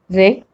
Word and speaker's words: wreck: Rule number 1, W is not pronounced at the beginning of a word when it comes before the letter R. Like in these examples, rap, right, wrong, ring, wrist, wrinkle, wreck, wrestle.